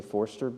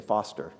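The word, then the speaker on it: Forster: named Foster batterham it's it's spelled forer so a lot of people say forer but all the people from Dorothy's family say Foster um and that's their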